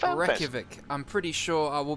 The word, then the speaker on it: Reykjavik: I believe it's pronounced Reykjavik. I'm pretty sure I will be corrected, really? But it's pronounced Reykjavik.